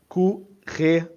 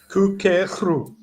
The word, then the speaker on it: courir: The only problem I have is that last syllable there. You're kind of pronouncing it like a ru. It's just r.